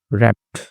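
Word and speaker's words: wrapped: तो इसमें W silent होता है। रैप्ड यानी कि ऐसे लपेटा हुआ।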